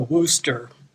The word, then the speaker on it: Worcester: done like this uh you start out saying Wooster like rooster but with a W instead of the r so Wooster and then sure as in I'm pretty sure this is how you're